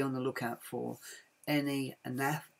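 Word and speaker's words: Naef: I seriously suggest be on the lookout for any NAF, F is pronounced like that, N-A-E-F wooden puzzles.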